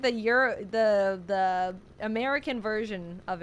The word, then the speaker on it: gyro: seen him in chat it's pronounced Euro yeah that's what I said look okay guys if you're not Greek you don't get to speak okay how